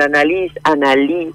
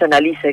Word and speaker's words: Analice: Lo que pasa es que muchas veces le buscan esa beta extraña para pronunciarla y me dicen Analí, y es Annalise como suena.